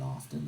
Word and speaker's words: often: See, I didn't pronounce the T in often that time.